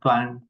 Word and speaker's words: climb: These cases, this final letter, we don't pronounce. You say bomb, climb, come.